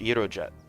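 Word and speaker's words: Gyrojet: It's Greek. It's pronounced Euro Jet.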